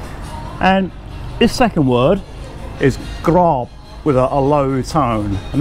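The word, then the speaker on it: กรอบ: We know that with a mid-class initial consonant and a dead syllable, we're going to get a low tone. So grob, so mu, grob, and that means crispy pork.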